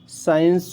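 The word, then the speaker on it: science: ठीक है, डिसिप्लिन हो गया, डिसिपल हो गया, ठीक है, डिसिपल हो गया, साइंस हो गया, और इसमें सीजर्स हो गया। तो इसमें सी का कोई उच्चारण नहीं है, सी का प्रोनाउंसिएशन नहीं है,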